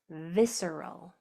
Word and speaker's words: visceral: Visceral.